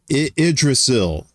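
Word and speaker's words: Yggdrasil: She said Idrasil uh was is how you pronounce that.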